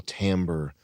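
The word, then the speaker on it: timbre: with a um a voice with an incredible tamber. Is that how you pronounce it, Chris? Yeah. An incredible tamber.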